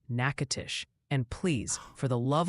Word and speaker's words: Natchitoches: Multiple people insist Natchitoches is pronounced Natchitoches, and please, for the love of weather, it's Shaker Heights, Ohio, like a salt shaker, not a shark attack.